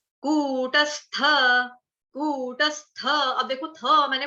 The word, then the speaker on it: कूटस्थ: हलन्त 'सा', कूटस्थ, कूटस्थ। अब देखिए, मैंने 'था' का उच्चारण पूरी तरह से किया। नहीं कर पाया ' कुत्स्था'।